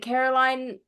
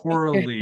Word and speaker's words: Coralie: Is it Caroline Farage? It's Coralie is the first name, and we will have definitive pronunciation for everyone watching next time.